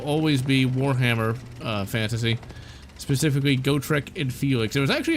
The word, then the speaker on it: Gotrek: But Gotrek is a dwarf, or Gotrik, I think is how you're supposed to pronounce his name.